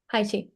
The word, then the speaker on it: Tai Chi: Tai Chi.